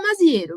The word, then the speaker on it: Maziero: É Maziero ou Maziero? A gente fala Maziero, né, mas assim, Maziero. Não pode ter se perdido aí uma outra pronúncia, mas a gente fala Maziero mesmo.